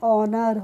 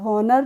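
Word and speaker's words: honour: हो नहीं पढ़ेंगे इको अब एच ओ एन ओ यू आर तो इसे भी पढ़ते हैं ऑनर नर नहीं पढ़ते हैं क्या चलिए अब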